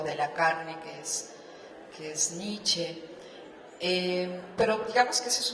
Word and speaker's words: Nietzsche: Consta que pronuncié la E al final, Nietzsche.